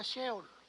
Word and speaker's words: Sheol: También en el hebreo, eh, en el hebreo se pronuncia sheol y en el latín se pronuncia tártarus.